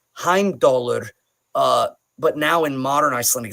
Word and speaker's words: Heimdallr: When we talk about like Heimdallr, but now in modern Icelandic it's Heimdallr. It's a tick on the side of the teeth, Dallr.